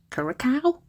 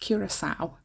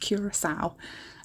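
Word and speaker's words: Curaçao: because I was like, CARCAO? What is that? Never heard of it, never. But it's pronounced Curacao, I think. I think that's how it's pronounced, Curacao.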